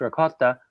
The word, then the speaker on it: ricotta: daughter doesn't like ricotta which by the way does not rhyme with dakota um it's ricotta um you know is